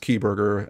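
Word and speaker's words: Kieberger: uh it's key Berger it's pronounced key Berger at least according to the local press uh and then where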